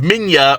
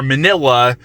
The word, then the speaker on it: Minya: This was also the introduction of Minya, or Manila, depending on how you want to pronounce it, and I know a lot of Godzilla fans do not like Minya, but I like Minya.